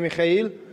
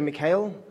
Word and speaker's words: Mikhail: it this far in my name is Mikhail you don't have to pronounce it that way you can just say Mikhail but I always do